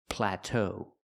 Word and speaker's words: plateau: We have to stress both syllables and say pla plateau.